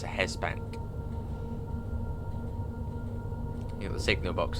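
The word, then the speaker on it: Hest Bank: So this is Hesbank, but I think it's spelled H-E-S-T, but I think it might be a silent T. It's a Hesbank.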